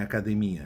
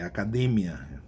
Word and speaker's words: academia: Por exemplo, academia, não é academia, é academia.